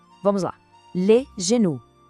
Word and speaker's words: genou: A pronúncia é le genou. O som do G é aquele mesmo J suave que a gente viu em jambe. E o O tem o som de U. Vamos lá. Le genou.